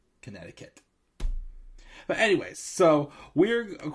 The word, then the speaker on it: Connecticut: in Hartford I'm sorry Connecticut as a young kid always said contact because I could never pronounce Connecticut but now of course at 29 years old I probably can pronounce my States Connecticut but anyways so we're